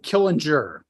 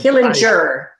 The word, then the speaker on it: Killinger: us at Sig University so am I pronouncing your last name correctly uh killing jur but killing jur okay but I'm close it's close enough for